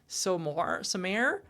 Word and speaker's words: Stormare: That's not correct. It's Somare.